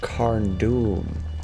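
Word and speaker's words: Carn Dûm: Oh, it's pronounced Carn-Dûm.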